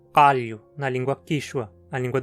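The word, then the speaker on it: qallu: Uma consoante uvular muito comum mundo afora é K. Para pronunciá-la, fale um K com a língua mais para o fundo da boca, para que encoste na campainha. K, K. Um exemplo de seu uso é na palavra calho, na língua quichua, a língua dos incas.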